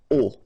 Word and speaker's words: aux: then a plus les will become o, aux, but then remember that phonetically it's o.